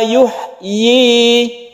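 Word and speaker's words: يُحْيِي: Huwa yuhyi, huwa yuhyi wa yumit. Jadi i-nya itu panjangnya satu alif, ini harus jelas pengucapan huruf ya-nya.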